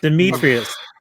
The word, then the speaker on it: Dimitrius: Does anybody want to actually try to pronounce this guy's name who plays Deck Nope. properly? Okay, Nope. good. Dimitrius.